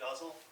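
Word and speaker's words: ghazal: poem in a specific form it's called a guzzle it's spelled g-h-a-z-a-l it's a series of couplets couplet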